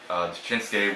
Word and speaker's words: Shinsuke: I stopped saying Suke when like I watched Naruto back in the day. It said Sasuke. I'm like, okay, that's the right way to say it. Yeah. Anyway, Shinsuke was the current Intercontinental Champion.